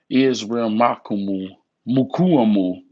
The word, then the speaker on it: Israel Mukuamu: Israel Mukuamu. That's how you pronounce it.